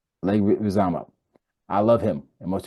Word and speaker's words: Leguizamo: You were talking about, and I always get his name wrong. Can never say his last name, but John Leguizamo. Leguizamo. Leguizamo.